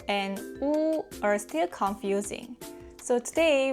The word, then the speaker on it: 우: To pronounce u, first gently add some tension to your lips and round them into a small circle. 우, 우, 우.